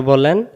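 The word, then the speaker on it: باء: বা আবারো বলেন বা। অনেকে আমরা এই অক্ষরটাকে বে বলি। আলি বেতে সে। এরকম যারা পড়বেন তাদের উচ্চারণ সহি হবে না। ভুল হবে। তাহলে এ অক্ষরের নাম বা। এটার নাম বা।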